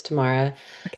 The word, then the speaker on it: Tamara: All right, Tamara or Tam, remind me how to say your name if I'm saying it wrong. Hi, you're correct. It's Tamara.